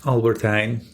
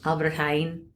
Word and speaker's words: Albert Heijn: Wait, how do you pronounce it? Albert Heijn. Albert Heijn.